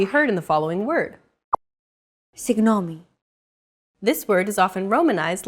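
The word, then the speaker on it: συγγνώμη: romanized like this signomi this character isn't pronounced using an English G sound at all who it's like a very soft continuous and loosely held G almost as if you're gargling but don't make it sound too throaty who there's no such sound in English but most people would transcribe this using the letter G because that's the closest equivalent in English pronouncing it like an English G however would be a huge mistake to get that sound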